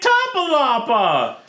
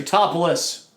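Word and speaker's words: Tatopoulos: Oh, it's Nick Topolapa! Really, Joe? You know how to say the goddamn name. I forgot it already. Totopoulos.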